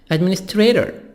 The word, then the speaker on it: administrator: T soft D here between A and O, between two vowels. التي نطقها دي خفيفة. Administrator.